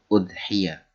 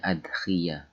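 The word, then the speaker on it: أضحية: bukan korban perasaan asur udhiya dengan dibaca domma ya menurut kaul menurut yang paling masyhur artinya di sini ada sebagian orang yang membacanya yaitu ada adhiah wahya Ismun lima yudbahu Minan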